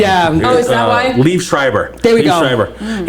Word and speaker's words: Liev Schreiber: How do you pronounce his name? yeah. Oh, is that why? Liev Schreiber.